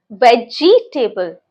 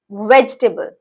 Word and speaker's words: vegetable: Some people call it as vegetable. So we do not have to emphasize on G. It's vegetable.